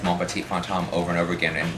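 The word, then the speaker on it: Mon petit fantôme: Mon petit fantome. Yes. Is that properly pronounced?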